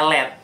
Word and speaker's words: Led: Nah, untuk membuat kata ini lebih mudah ditafsirkan oleh orang-orang yang mendengarkan, jadi mau nggak mau kata LEAD ini diubah menjadi LED doang. Jadi sehingga siapapun yang membacanya pasti bacanya LED.